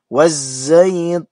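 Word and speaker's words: وَالزَّيْتُونِ: alif lam menghadapi zai dimasukkan kepada huruf zainya. Jadi bunyi lamnya dihilangkan. Wazzaitun.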